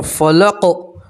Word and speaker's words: فلق: رب بل فلقی، آپ یہاں اگر وقف کر دیں گے تو قاف کے نیچے زیر ہے، ٹھیک ہے، زیر کو ہٹا دیں گے اور قاف کے اوپر جزم پڑھیں گے۔ کیا پڑھیں گے؟ جزم۔ تلفظ کیا پڑھیں گے؟ فلق، کیا پڑھیں گے؟ فلق، ٹھیک ہے۔ اب دیکھیے مکمل آیت،